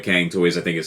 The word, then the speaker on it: Kang Toys: to my buddy YK, told me it's actually pronounced similar to Chunk Toys, but I'm never calling it that. I'm only going to call it Kang Toys.